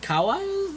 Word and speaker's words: kawaii: I'm very excited, very animated, very what was it, kawaii? That's how you pronounce it.